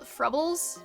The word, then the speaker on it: Frubles: Frubles rhymes with bubble- Frubbles? Really?